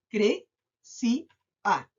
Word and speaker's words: crecía: Cre-ci-a. Tiene tres sílabas, pero esta se acentúa en cre-ci-a.